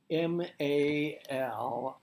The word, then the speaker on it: Mali: Mali. Here in the Philippines, when there's an I, it's pronounced E.